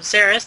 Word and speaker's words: Xeres: Over on YouTube, you can find me by searching either, Good Morning Eorzea, or putting in the channel name of Xeris. That's spelled Xeres.